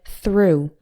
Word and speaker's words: through: stop coughing and finally oh ugh can be pronounced like the ooh in - as in the word through meaning to go in one side and out